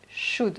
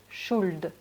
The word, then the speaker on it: should: Donc comme j'ai dit tout à l'heure, on ne prononce pas le L, on dit should et non should.